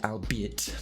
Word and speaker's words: albeit: Antony lighten your anxiety the archaic word albeit does not rhyme with eight you see it with